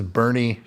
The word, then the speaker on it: Boerne: This is Boerne, Texas.